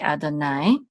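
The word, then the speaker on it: יהוה: The letters are Yod, He, Vav, and He, and we say Adonai.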